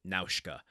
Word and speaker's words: Nausicaa: favorite movies and the Japanese original language pronounces it Naushikaa, which is how it's been ingrained in my head. Which almost sounds Russian. But Nausicaa and having to repeat the double vowel at the end of her name is a bit of a struggle for me.